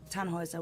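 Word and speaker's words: Tannhäuser: We'd pronounce it Tannhauser with an umlaut.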